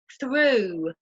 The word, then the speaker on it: through: And this can be pronounced like the long U. Through the window, through the tunnel.